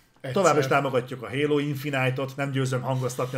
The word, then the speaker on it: Infinite: Továbbra is támogatjuk a Halo Infinite-ot, nem győzöm hangoztatni, az Infinite az itt van nálunk, így kiejtve. Ha bárhol látjátok, az lopva van.